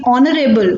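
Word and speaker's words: honourable: तो हुआ है लेकिन ऑनरेबल को अगर हम प्रोनाउंस करें तो इसकी जो साउंड है वह बल्कि है ठीक है लव यहां पर हमारा अकाउंट स्टेटमेंट रहा है लेकिन साउंड वह बल्कि है तो इसीलिए इसके आगे आना चाहिए बाकी क्रुक को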